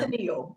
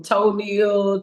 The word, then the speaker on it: Toneal: I get everything from toenail, toenail, tonal, like everything.